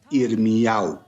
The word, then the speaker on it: Irmiyahu: homónimos de este nombre que en hebreo se pronuncia irmu Pues bien el libro